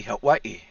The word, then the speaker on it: Hawaii: And now our brothers and sisters in Hawaii, to say it correctly, Hawaii, are over there.